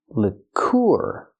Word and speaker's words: liqueur: first vowel Lick Lick lure then we have the UR sound using the oo sound like food plus the r or lur what is lure lur